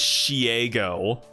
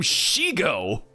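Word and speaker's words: Shego: pronounce her name as Shiego. Like, did she couldn't have watched the show? Because every time she appears, the characters say her name Shigo, but she gaslit herself into thinking it was pronounced Shiego for literally no reason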